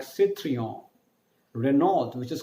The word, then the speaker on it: Renault: the, her, which is Renault. That is the right pronunciation of Renault. There is no t sound in French, and R is pronounced as ada ha, ada ka, so it's Renault.